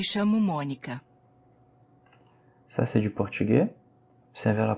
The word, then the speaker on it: portugais: Ça, c'est du portugais. Observez la prononciation. AI, le son c'est E. Portugais. Et le S ne se prononce pas non plus ici.